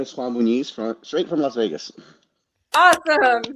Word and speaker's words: Juan Muniz: Hi, my name is Juan Muniz, straight from Las Vegas. Awesome. Thank you for pronouncing that, because I did not want to mess it up.